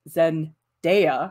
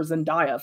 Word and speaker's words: Zendaya: me so yeah well shame if you like zen deya because apparently i just learned how to pronounce her name correctly i was calling her zendaya forever anyway we did some drawings of zendaya